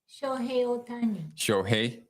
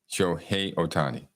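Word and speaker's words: Shohei Ohtani: Shohei Otani. Shohei Otani. One more time. Shohei Otani.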